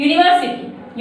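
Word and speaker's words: university: Next, यूनिवर्सिटी, यूनिवर्सिटी यूनिवर्सिटी, यूनिवर्सिटी word जो है वह यू से शुरू हो रहा है, इसलिए हम लोग इसके साथ में ए का यूज करेंगे।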